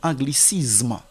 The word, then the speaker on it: anglicisme: les gens lisent comme anglicisme non la lettre S ici ne se prononce pas comme Z c'est anglicisme socialisme et